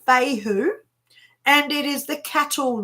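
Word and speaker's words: Fehu: had this one before so this one is pronounced Fey who and it is the cattle ruin Stone okay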